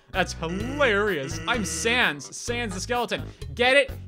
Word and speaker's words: Sans: I'm Sans. Sans the skeleton. Get it? He uses Comic Sans as a font, so his name is Sans. Also, yes, I know it's pronounced sans because it's a French word, but I'm going to